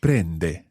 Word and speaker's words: prende: to be absolutely clear that's a letter e as an egg but it's an a sound in italian so brende brenda he takes or